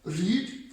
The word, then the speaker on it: read: रीड के spelling होंगे, मगर इसको हम जब प्रोनाउंस करेंगे तो ये रेड, यानी कि जिसको आप रेड कलर भी बोलते हैं, लाल कलर, RED, रेड, उस तरह की साउंड आपको आएगी।